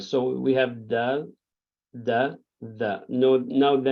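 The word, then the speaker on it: دال: So dal sounds like da, and dal sound like the.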